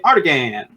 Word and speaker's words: Artagan: It is definitely Artagan. That longer A at the end.